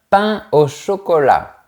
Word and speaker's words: pain au chocolat: Mais peut-être que tu préfères un pain au chocolat. On ne fait pas la liaison entre les mots pain et eau.